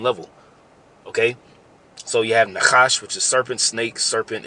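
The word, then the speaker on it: נחש: That word serpent in the Hebrew is pronounced nachash.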